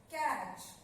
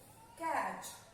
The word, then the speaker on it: catch: Sound of T is not there.